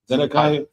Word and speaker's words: Zedekiah: Who's how you pronounce his name? Zedekiah.